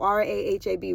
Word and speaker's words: Rahab: Rahab I don't want to say her name Rahab r a h a b Rahab she was the Harlot that hid the